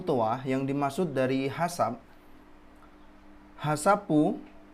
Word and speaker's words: HACCP: Selanjutnya di halaman 45, Ichibang, Hasapu toa yang dimaksud dari hasap. Hasapu, HACCP, bacanya Hasapu. Hasapu toa, Hazard Analysis Critical Control Point.